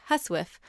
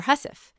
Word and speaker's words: housewife: was in 1225 although it was first pronounced more like husiff or hussif and sometimes even shortened